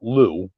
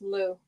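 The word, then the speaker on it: Liu: crap sorry sorry kid his name is uh Lou oh l i youu yeah Lou there's a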